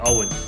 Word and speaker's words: Eoin: the stage is yours the best way to pronounce it is if it's spelled o w e and like Owen like Michael on the X England footballer and I tell people